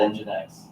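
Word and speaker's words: nginx: YouTube talking about this what would make you think this is possibly called engine X right okay what what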